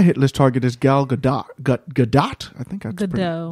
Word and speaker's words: Gadot: My hit list target is Gal Gadot. Gadot? I think that's Gadot. Gadot? Yeah. Gadot? Yeah. It's Gadot.